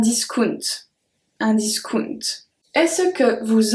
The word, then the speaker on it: discount: We have the exact same word in French and in English, but we do pronounce it a bit differently. So you say a discount. We say un discount.